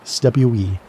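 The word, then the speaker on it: cwm: The Welsh call these valleys stwe. And if you've never heard that word pronounced properly, you're missing out on one of the languages most satisfying sounds. It rhymes with boom, but starts with a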